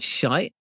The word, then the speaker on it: shite: don't hear the word shite in songs very often do you not in a slow song that's for sure it does rhyme with night so it's you I'm